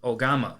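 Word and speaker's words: 大鎌: Today's Lance's Lessons is going to be the Japanese word for scythe, and that is ogama. Ogama is spelled O-G-A-M-A, and ogama is very fitting for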